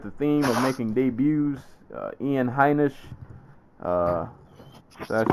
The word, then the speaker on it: Ian Heinisch: Moving on, continuing with the theme of making debuts, Ian Heinisch.